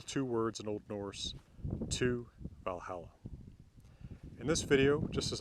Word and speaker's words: til Valhallar: to Valhalla to Valhalla now that is reconstructed medieval pronunciation if you want to say it with modern Icelandic pronunciation it still Valhalla to Valhalla with the significant change being that double-l goes from sounding like well a double L to TL now the runes that